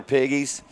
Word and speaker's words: Piggies: That's going to be that's going to be Tyler Piggies. And that is the way that it's pronounced.